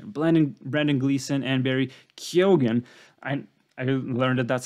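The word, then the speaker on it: Keoghan: batches of initial blending Brandon Gleason and Barry kyogen and I learned that that's how you pronounce his name both of them were just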